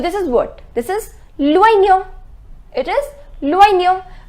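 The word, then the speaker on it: l'oignon: This is loignon. It is loignon. Remember I told you the pronunciation of OI is OUA. So it is loignon, which means the onion.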